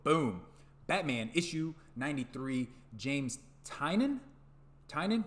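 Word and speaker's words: Tynion: horse's mouth the guy himself that it's actually pronounced Tainan I would have never have guessed that so it looks like Tinian to me but hey James Tainan artwork is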